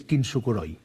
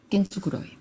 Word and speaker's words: kintsukuroi: complicado kor eh Mira el japonés tiene una cosa que se pronuncia Exactamente igual que el español entonces kintsukuroi kintsukuroi las letras el fonema es igual que en español kintsukuroi por un lado